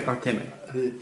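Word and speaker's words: Artime: Artemi. Sorry, I've been pronouncing his name wrong the whole time.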